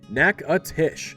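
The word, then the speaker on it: Natchitoches: Number four, Nacatish, Louisiana. First things first, it's pronounced Nackatish. Not whatever you were going to say.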